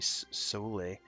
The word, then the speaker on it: Soule: One of my favorite game music composers of all time worked on the main title, which was Jeremy Soule. I always pronounce it Soule. It might be Soul.